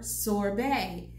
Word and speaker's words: sorbet: I would ask for sorbet again s fo r ve T the T is silent now they would not have sorbet in one two three-star